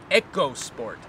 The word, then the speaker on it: EcoSport: with this SUV and they are instructing us to pronounce it as eco sport so these vehicles have